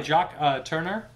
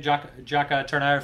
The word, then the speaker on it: Jacques Tourneur: It's directed by Jacques Tourneur, I believe is how you say his name. Jacques Tourneur, French director.